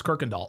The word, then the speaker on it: Kirkindall: Oh, Brandon M says, "In Texas, that's how we pronounce it. It's Kirkindall."